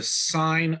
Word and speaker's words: sin: Sine, you pronounce this sine, even though it's spelled sin.